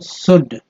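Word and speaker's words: should: एस से जब वॉज, शुड, एस एच ओ यू से शुड होता है, इसमें एल नहीं रखेंगे, ठीक है, एल को साइलेंट रखेंगे तो इसलिए शुड एनीथिंग,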